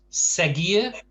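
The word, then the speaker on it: seguir: it gets regular uh segier don't forget it segian the g is hardened by the u but the u isn't pronounced um we have siegel so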